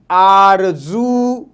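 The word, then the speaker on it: آرزو: ठीक है, और अगर लफ्ज के आखिर में ऊ साउंड आए तो हम इसका इस्तेमाल करते हैं इस तरीके से आरजू, आ रे जे ऊ, आरजू, आरजू, आरजू।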